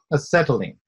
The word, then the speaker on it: acetylene: Acetylene.